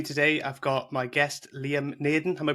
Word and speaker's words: Liam Naden: With me today, I've got my guest, Liam Naden. Am I pronouncing that correctly, Liam?